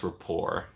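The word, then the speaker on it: rapport: and I have a nice repor which ironically has a t at the end of it but you don't pronounce it so no context you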